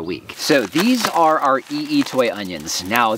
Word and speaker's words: I'itoi: so these are our ee toy onions now that is spelled I apostrophe i t o i it's ee toy at least that's my understanding so these are multiplier